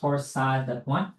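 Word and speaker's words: torsades: So, torsad that's pronounced torsad literally means twisting of the points.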